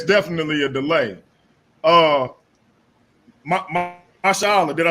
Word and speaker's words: Mashallah: Mashallah, did I say it right? Yeah, you got it good, brother. It's Masha Allah. It ain't that hard.